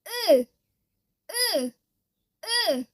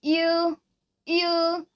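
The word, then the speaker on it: ㅡ: Okay, don't pronounce it as a you, you. No, this is wrong. You have to pronounce uh, uh.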